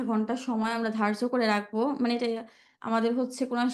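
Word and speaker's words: راء: চেষ্টা করবেন দাল দাল দাল র রটা মোটা হবে জিব্বাটা উল্টো করে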